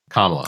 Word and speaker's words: Kamala: Harris are going to did I say it right that time kamla Harris yeah kamla okay no you had it right